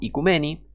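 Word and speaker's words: οἰκουμένη: del griego antiguo o ikicumene, aunque se pronuncia en griego moderno, ikumeni, que quiere decir tierra habitada.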